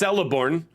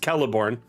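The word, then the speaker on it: Celeborn: See, I've heard it pronounced Celiborn more times than I've ever heard it pronounced Kelliborn.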